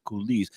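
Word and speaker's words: coulis: absolutely delicious and you said a red pepper kise I love saying the word kiz I love to spell it c u l i s what does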